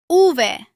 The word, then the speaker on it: uve: The Spanish name of V is uve. Uve. Your turn. Uve. In most varieties of Spanish, B and V are pronounced very similarly.